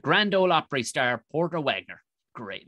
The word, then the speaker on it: Wagoner: For those that are listening, it's spelled Wagoner, Wagoner, like somebody who builds wagons, like Robert Wagner.